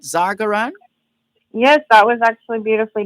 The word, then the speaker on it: Zargaran: Can we get some background, first of all, from you, Farah Zargaran, and confirm the pronunciation of your surname? Did I get that right? Zargaran?